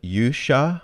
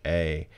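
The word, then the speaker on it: 勇者: They spell it Yusha with an H. It's actually Yuusha.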